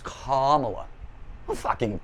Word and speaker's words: Kamala: upset if you say oh it's not camela it's KLA give